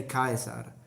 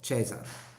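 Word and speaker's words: Caesar: reason and I've seen like whenever I say Kaiser the only people who complain are Italians in the comments like everyone else no problem Italians you don't even know it's pronounced chaser well it's pronounced chaser in ecclesiastical at it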